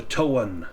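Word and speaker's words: Toan: The towan is in there." And that is spelled T O A N. Towan.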